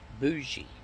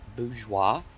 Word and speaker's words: bourgeois: f-o-y-e-r it's really four-year it's no different than people today saying uh bougie it's actually bourgeois you know i love